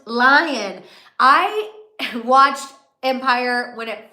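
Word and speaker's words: Lyon: Empire that's where got my nickname from oh pronounced lion I watched Empire when it first started but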